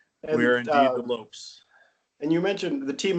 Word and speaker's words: Lopes: Sweetwater Lopes. Yes. Lopes for It's antelopes. not Lopez. Not Lopez. More Nope. antelopes than people. That's right. More antelopes than people in Wyoming. So And, we are indeed the Lopes.